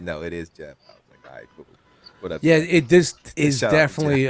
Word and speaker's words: Geoff: his actual his name you do pronounce it Jeff yeah it is Jeff Jeff singer yeah it's just he dispels the g-e-o yeah it sounds like it looks like V off but it is actually Jeff yeah I actually met